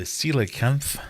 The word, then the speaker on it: coelacanth: which we've had before is it the coelacanth which I believe is how you pronounce that the sturgeon the Goldfish